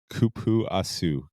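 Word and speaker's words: cupuaçu: It's kupuasu.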